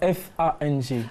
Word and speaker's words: Fang: Le G ne se prononce pas.